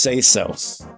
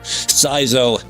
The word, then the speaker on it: Saizo: It's pronounced say so.